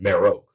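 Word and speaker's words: Marek: are spelled differently and I think they pronounced it Mero Galen Merrick is spelled m-a-r-e-k and that's dumb why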